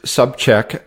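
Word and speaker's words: Sobczak: out for you it's my name sub check dot training so subject just like it sounds it's a arty sob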